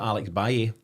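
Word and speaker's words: Alex Valle: about that just now, but we know that Alex Baye, that's how to pronounce it, Paddy, isn't it?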